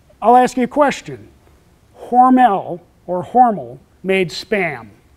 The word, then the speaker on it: Hormel: Don't call it Hormel. They will severely chastise you in Austin, Minnesota if you pronounce it Hormel. It is Hormel, which is why every